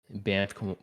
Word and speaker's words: Banff: The Banff Yeah, one. so I Am I got, pronouncing that right? yep, Banff, Banff.